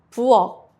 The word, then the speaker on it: 부엌: 기역, 키읔 sounds like a soft K. Example, 책, book, 부엌, kitchen. Try saying it. The sound stops at the back of your throat.